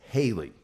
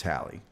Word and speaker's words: Halley: in 2061 okay now a lot of people pronounce this Haley and I think it's because of Bill Haley in the Comets but really it's hie hi's comment mhm and